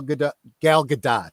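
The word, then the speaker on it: Gal Gadot: and we were I was talking about gal galgadot yes that's how she pronounces it um how she uh you know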